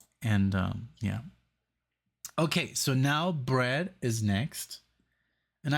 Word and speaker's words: Bread: Okay, so now Bread is next. And I thought you would pronounce it breed, but that would be double E. So bread is correct.